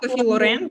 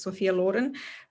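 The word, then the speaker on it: Sophia Loren: from um Sophia Lauren we say sop Lauren but she's Italian it's the proper way to say her name is Sophia Len uh it was amazing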